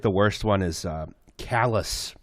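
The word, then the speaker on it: Calais: worst one is uh callous in Maine yeah it's uh spelled like kalei that's brutal just using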